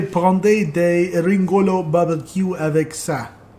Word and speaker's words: ça: How do you say that? Ça, a little squiggle under the C. Ca? Ça? Ca? Ça. Ça, okay.